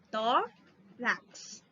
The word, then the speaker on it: tórax: Tórax. Não é orax, é o tó.